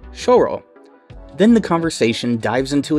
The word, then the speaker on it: Syo-ro: rightfully so maybe that it should be pronounced closer to choro then the conversation dives